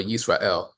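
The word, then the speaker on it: ישראל: last name of Israel, or Yisrael, as it is pronounced in Hebrew.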